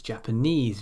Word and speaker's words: Japanese: Some suffixes are always stressed as the final syllable in a word.